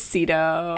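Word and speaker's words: Sydow: No, we just looked up how to pronounce it and I was wrong. I guess it's Cedto.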